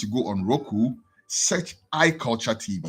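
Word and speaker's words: I Kulcha: go on Roku search I culture TV iculture is spelled i-k-u-l-c-h-a just like radio culture right it's a sister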